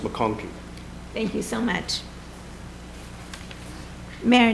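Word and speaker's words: McConchie: c h i e and it's pronounced McConkey thank you so much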